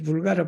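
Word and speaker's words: vulgara: 이 불가라 발음을 잘해야 돼요. 잘못하면 우리 버 발음 나서 불가라 같으면 우리나라의 불가리아. 여기 불가라는 그냥 흔한 걸 말해.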